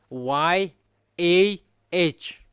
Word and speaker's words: Yah: It's yod and hey it's called yah.